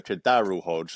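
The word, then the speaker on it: KhaDarel Hodge: apologize would like an a an apology for Kadar Hodge not whatever you just tried to mispronounce um unfortunately I'm sorry it's a Kadar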